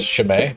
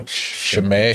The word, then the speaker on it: Chimay: So this is, what is it pronounced? Chimay? That's how I pronounce it. I'm not sure how the monks say it. Yeah, but there's a link. So Chimay.